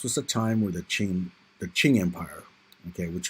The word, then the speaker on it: Qing: a time where the Ching the Qing Empire okay which was the uh dominant Empire there in China it's spelled q-i-n-g ching was actually in a